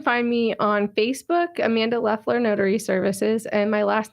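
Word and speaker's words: Loeffler: you you can find me on facebook amanda lefler notary services and my last name is spelled l-o-e-f-f as in frank l-e-r it's a tough last name or if you just google amanda leffler notary or just amanda notary or even saint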